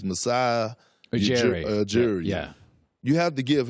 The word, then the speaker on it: Masai Ujiri: I always have problems pronouncing his name, but it's Masai Ujiri.